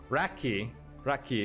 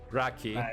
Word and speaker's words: Raqyee: Raqyee is the right pronunciation. Raqyee, yeah.